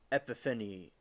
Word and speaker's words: Epiphany: to Christian holiday of epiphany epan which is celebrated on January 6 e any Maybe saying it wrong is epif Epiphany that's how you say it Epiphany is the